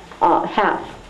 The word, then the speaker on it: half: Half, like half, right? She gives the word half as an example. Well, I'll write it in red. You put 2 lines under the L, or calf, right?